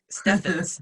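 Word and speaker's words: Stephens: It's Stevens with a, so it's Stevens. Steffens. It's Steffens.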